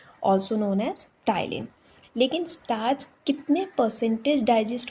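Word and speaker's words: ptyalin: P silent है इसलिए टी वाई एल आई एन टाइलीन।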